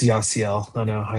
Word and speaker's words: Yasiel: It's Yasiel.